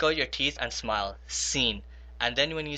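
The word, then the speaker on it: س: Now notice we have to make a differentiation between this swad and a scene because sometimes we make their sounds the same. Now the way to differentiate this is that when you say scene try to put a smile on your face. I call this I call scene a smiley letter and I call swad a frowning letter.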